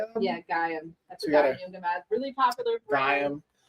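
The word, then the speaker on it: Gaiam: Yeah, Gam.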